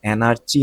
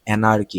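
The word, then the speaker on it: anarchy: বা সাদৃশ্যটা দেখে এনার্কি এটার উচ্চারণ হল এনার্চি না এনার্কি এনার্কি মানে হল অরাজকতা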